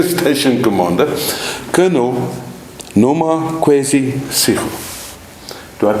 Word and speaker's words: Sigo: I'm sitting in the Secunda station, police station, and with me is the brand new station commander, Colonel Noma Kwesi Sigo. Do I pronounce it correct, Colonel?